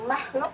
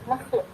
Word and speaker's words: makhluk: Jika kita melafalkan bunyi makhluk, makhluk, nah makhluk gitu, kho gitu yang keluar, bukan makhluk. Nah, biasanya pada setelah bunyi itu ada muncul bunyi kho gitu ya, makhluk gitu ya.